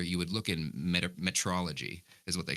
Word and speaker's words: metrology: no I've never actually Metrology so met meteorology I'm I'm pronouncing it wrong it's not meteorology but it's the study of